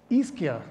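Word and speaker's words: Ischia: thing and so something more recent for me iskia that's how you pronounce it an island off of naples near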